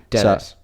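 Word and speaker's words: Denis: For example, you know, I'm a huge Dillis Villeneuve fan. Dennis. So, I said Dennis. You said Dillis.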